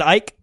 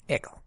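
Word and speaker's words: Icke: you know why because because you mispronounced the name you're talking about David Ike igle there's no there's no l in the dude's name well it's actually half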